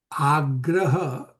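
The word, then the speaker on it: āgraha: So if you see agraha has a little line above the A, meaning you are pronouncing this as double A, means a longer A.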